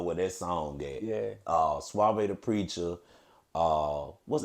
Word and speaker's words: Suave Da Preacha: Suave the Preacher.